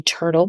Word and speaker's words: TRTL: I recently got the turtle pillow. It's spelled out TRTL.